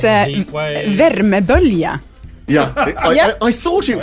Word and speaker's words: värmebölja: värmebölja. Yeah. Yeah. I thought it was. Can you please pronounce värmebölja?